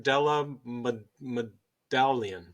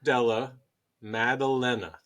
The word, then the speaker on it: Della Maddalena: I think I can pronounce this. Gilbert Burns. There we go. Yep. Against Jack Della Medallia. Sound it out. Jack Della Maddalena.